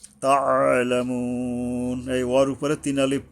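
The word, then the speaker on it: تَعْلَمُونَ: তাআলামুন, তা, এই আইন উচ্চারণে গলা চেপে সাবধান উচ্চারণ করতে হবে।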